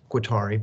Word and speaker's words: Guattari: again with daluz and to losing guateri i think that's how you say it in french it might i'd typically say quattari but i'm from the deep south in georgia so i butcher a lot